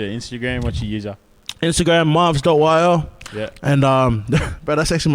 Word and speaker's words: MRVZ: That's how it's pronounced, Mrvz. Mrvz. People call me Mr. VZ or Mrvz. Or like, bro, I'm saying, bro, don't be making up my name, bro.